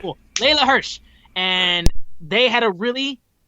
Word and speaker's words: Hirsch: she took on legit laylah hersh i'm bad at pronunciation hirsch right yep that is correct well leila hirsch and they had a